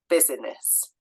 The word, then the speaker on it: business: e in the middle business we don't say that I in the middle business in my head when I'm spelling it